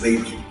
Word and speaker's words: Weber: La pronunciación correcta, de hecho, es Weber.